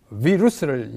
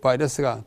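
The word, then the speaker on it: virus: 라틴 말로 비루스를 영어로 발음하면 바이러스입니다. 그때 이후로 인간을 지독하게 위협하고 괴롭히는 존재로 우리에게 나타나는 것입니다. 그래서 2020년 3월, 지금 3월이잖아요. 현재 이 코로나19 바이러스가 동아시아를 공포에 몰아, 동아시아뿐만 아니잖아요.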